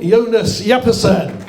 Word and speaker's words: Jonas Jeppesen: From Denmark, 20 years old, Jonas Jeppesen. Okay, I've got the pronunciation right.